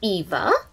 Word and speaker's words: Iva: is alicia moving on here we have eva and we spell it iva which is similar to diva but she's not a